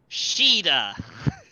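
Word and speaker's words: Shiida: So he's trying to help Niana, and he takes with him the Princess of Talus, Sheeta. I hate that that's how it's pronounced, apparently.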